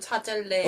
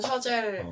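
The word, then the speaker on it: Chazelle: 데이미언 셔젤 감동도 데이미언 차젤레 어 나는 아직도 데미엔 차젤레라고 발음하는데 그 원래 발음으로는 샤젤 프랑스의 부모님이 계셔가지고 그렇군요.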